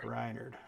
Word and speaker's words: Rynerd: you definitely recognize R am I saying your name wrong rinard rinard yeah rinard all right uh and